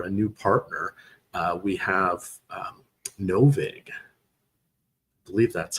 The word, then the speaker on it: NoVig: We have NoVig. I believe that's how it's pronounced. That's like vigorish. NoVig.